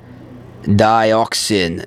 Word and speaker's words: dioxin: sent not sending sending it's on dioxin Nixon I used to call this Dixon for the longest time guys you know called